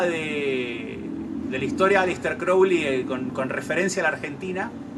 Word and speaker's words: Crowley: referencia a la Argentina, si quieren saber cómo se pronuncia, es Crowley, no Crowley. Ozzy Osbourne dice Crowley, pero Kenneth Anger decía Crowley, así que yo voy a decir Crowley.